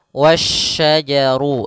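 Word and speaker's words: وَالشَّجَرُ: langsung ke huruf syin dan di sini hati-hati jangan sampai terbaca huruf huruf Sin lagi tapi dia huruf SY wasajaru sebagaimana yang di awal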